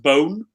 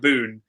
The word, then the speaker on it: Boon: so this is uh it's actually pronounced bone i didn't learn that till i met frank boone and called him frank boone and he gave me that um i'm assuming brad's